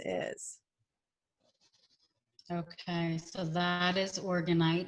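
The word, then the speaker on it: orgonite: You said that you used a lot, and am I pronouncing that right? It's organite, right?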